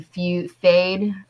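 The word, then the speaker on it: Feyd: Fade.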